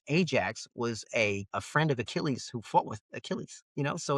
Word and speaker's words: Achilles: What I learned in class was his name is actually Achilles. You don't say Achilles. Mhm. Achilles is the way you pronounce his name.